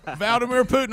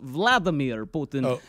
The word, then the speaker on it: Vladimir Putin: tongue and cheek or if you're mispronouncing my name on purpose Rick but it's Vladimir Putin uh every time you pronounce it wrong I kill a puppy